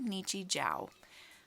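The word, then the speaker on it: Nichijou: husband found it but it's called nietzsche zhao i think it's spelled n i c h i j o u sorry total tangent hopefully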